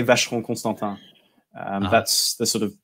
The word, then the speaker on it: Vacheron: And he said to say it like a native, you can actually drop an extra syllable from Vacheron. You just go Vacheron instead of Vacheron.